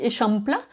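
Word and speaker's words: Eixample: prononciation en catalan et sachez qu'en catalan ça se dit et chante plat et qu'est ce que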